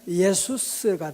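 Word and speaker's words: Ἰησοῦς: 그리스 원어로 발음하면 예수스가 돼요.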